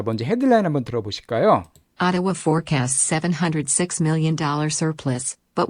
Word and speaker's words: Ottawa: Ottawa forecasts $706 million surplus, but warns of future uncertainties. 자, 여기서 Ottawa, 자, 오타와라고 읽지 않습니다. 물론 오타와가 발음 기호인데요.